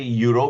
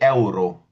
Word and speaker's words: euro: So, E is pronounced as A. So, we'll not say euro, we'll say euro.